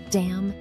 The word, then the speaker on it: damn: before a voiceless consonant finally the letter N is silent in some words and it's not pronounced at all here are some examples of words that have a silent n condemn Autumn solemn damn him did you notice